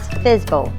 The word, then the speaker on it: FSBO: In real estate terms, this is called for sale by owner, FSBO, or pronounced as fizbo.